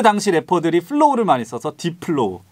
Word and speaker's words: 딥플로우: 왜냐면 딥에 P랑 F에 F가 네. 붙어 있어서 P랑 F랑 같이 붙어 있으면은 이게 진짜 발음이 좀 힘들거든요. 딥플로우. 플로우. 딥플로우. 그러니까 이게 좀 힘들어요. 영어를 진짜 원어민처럼 하지 않으면. 그래서 디플로우 막 이렇게 듣는 사람도 있고.